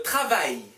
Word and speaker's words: travail: Le travail. Le travail. Le travail. A, I, L 붙어있으면 I 발음 나와요.